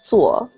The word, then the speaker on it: 做: Yeah, and it's pronounced zuo.